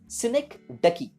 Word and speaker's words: synecdoche: Remember the pronunciation of this particular word, that is synecdoche.